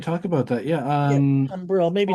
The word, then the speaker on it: tumbril: Can you tell me about the word tumbler? Or how do you say Yeah, we it? can. Yeah, we can definitely talk about that. Yeah. Yeah, tumbril.